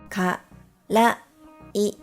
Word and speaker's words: からい: Ka, ra, I, karai.